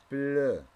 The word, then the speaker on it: pleut: Quand il pleut. Le T ne se prononce pas.